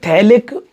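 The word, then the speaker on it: phthalic: देखिए थैलिक, ये है थैलिक, यहाँ पीएच साइलेंट रहता है, इसे बोलते हैं थैलिक एनहाइड्राइड.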